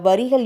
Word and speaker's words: வேரை: இருக்கோம் ஆனா அதனுடைய உண்மையான பொருள் உண்மையான பழமொழையுடைய வரிகள் என்ன அப்படின்னா ஆயிரம் பேரை இல்ல ஆயிரம் வேரை ஆயிரம் வேரை கொண்டவன் அறை வைத்தியன் ஆவான் அப்படிங்கறதுதான் சரியான உச்சரிப்பு இதுல ஆயிரம் வேரை அப்படிங்கறது